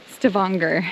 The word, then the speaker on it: Stavanger: Oh boy, I have been saying that name, that city name wrong. So wrong this whole time. Stavanger, I believe is how our tour guide said it.